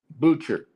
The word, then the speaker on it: Boucher: Butcher with the B.